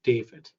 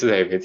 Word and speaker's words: Dawid: Now, I want to make sure I've got this right, too, because I'm not sure, but I think we just pronounce it David. Yeah, it's David. Yes, that's correct.